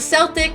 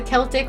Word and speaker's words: Celtic: The Celtic or the Celtic, whichever way you want to pronounce it, is very Scottish, not English.